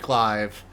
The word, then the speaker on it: glaive: playing the insect i've clive heard it pronounced like that before yeah it's a less common pronunciation for glaive that i sometimes slip